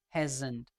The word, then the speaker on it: hasn't: So if you want to pronounce in a shortened or contraction form, you can pronounce like she hasn't been walking, Z sound, hasn't.